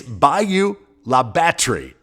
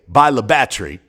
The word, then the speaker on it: Bayou La Batre: And before you even try to pronounce it, let me save you the embarrassment, because I've already suffered the embarrassment. It's Bayou La Batre. Though the locals often just say Bayou La Batre, I mangled it 6-7